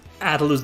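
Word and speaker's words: Atlus: old squaresoft atlos adults I can't pronounce Atlas the American way sorry I say I have to lose all the time not adults adults Atlas adults at loose well more like I pronounce it the uh this panish way at loose um I can't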